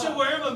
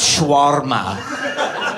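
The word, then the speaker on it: shawarma: no shirt what's shaa made of what's the what what's shaa made of sha well you're not saying it right number one that's how white you are it's schwarma shma have you been saying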